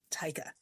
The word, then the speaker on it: Taika: Imagine saying tiger with a kiwi accent and replace the g with a k. Tika or tiger with a k or cuz cuz it means tiger.